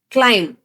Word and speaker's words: climb: But actual pronunciation alli, in all these words, we are not supposed to pronounce B.